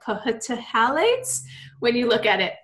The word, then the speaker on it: phthalates: And that's phthalates, and it's spelled with a PHTHALATES, but pronounced. The PH is silent, so people are like, phthalates when you look at it, but it's phthalates.